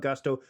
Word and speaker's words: Gusto: Now, what is Gusto? Well, it rhymes with must or Rustto as in let's do it once more with Gusto.